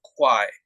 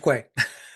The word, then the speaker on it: Quay: And he also goes by Sage of Quai, if I didn't slaughter that pronunciation. Sage of Quay. Quay. All right.